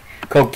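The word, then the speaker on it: Coagh: Like, Coke United, you wouldn't think it's pronounced Coke because it's spelled C-O-A-G-H.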